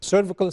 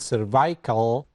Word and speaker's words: cervical: You look at the cervical spine. Some in other areas they pronounce it cervical, but in the United States we call it cervical.